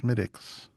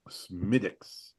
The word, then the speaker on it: Smithwick's: So, in in the interest of uh accuracy on the Drinking with Friends podcast, it's pronounced Smidix. Smidix.